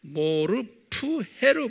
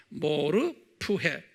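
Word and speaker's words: μορφή: 똑같이 이 종, 둘로스라는 종의 모르푸헤, 정확하게 모르페보다는 모르푸헤로 발음하면 좋겠어요. 모르푸헤, 이게 본 형체라는 뜻인데요, 이게 본체라는 뜻이에요.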